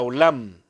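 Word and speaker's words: עוֹלָם: esta frase senderos antiguos viene de una palabra hebrea que se pronuncia olam y olam principalmente significa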